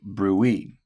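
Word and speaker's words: bruit: If you hear a turbulent sound because of plaque, then it's called a brewy. Okay. Pronounced brew.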